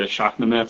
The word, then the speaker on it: Shahnameh: Arzia, he's going to be reading the Shahnameh for kids. Did I pronounce that correctly?